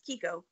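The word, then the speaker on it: Chicco: And so Kiko, it's pronounced Kiko, it's spelled Chico, but it's Kiko.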